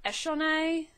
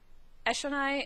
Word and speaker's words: Eshonai: capsule Tien sadius um I think Brandon pronounced it eshonai eshonai in the readings but I keep wanting to say it shonai um bonus no Rock